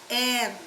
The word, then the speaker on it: heir: Similarly, he is the heir or she is the heiress. H-E-I-R. H is silent.